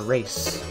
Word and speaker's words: Ras: I believe in Japan it's called, not pronounced Rass, it's pronounced race.